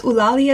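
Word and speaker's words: Eulalia: dozen different acceptable pronunciations ulalia is the one I'm most familiar with but in some pronunciations instead of ooh it's like a u and instead of lalia it's Lilia this one's kind of a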